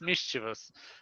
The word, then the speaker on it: mischievous: you pronounce it now the accent is on the first syllable is mischievous that's why I bring